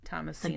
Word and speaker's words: Thomasina: Thomasina like the H is silent.